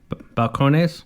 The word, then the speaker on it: Balcones: recommend checking out the balcon balcon how is it pronounced Balcones Balcones uh Texas number one